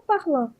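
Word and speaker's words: parlent: je par par par a terceira do plural também é parl a gente não pronuncia o ent mas escreve mas não pronuncia ele tá bem obrigada nada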